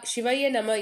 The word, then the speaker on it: சிவய நம: சிவாய நம என்பதை சிவய நம என்றே உச்சரிக்க வேண்டும். ஷீ சிவம் வ திருவருள் ய ஆன்மா ந திரு திரோத மலம் ம ஆணவ மலம் திரோத மலம் என்பது அழுக்கை நீக்கும் பொருள்.